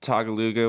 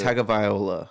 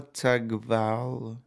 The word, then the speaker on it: Tagovailoa: Well, like, you know how like that Tagaluga, whatever the fuck his name is, I just got Tua?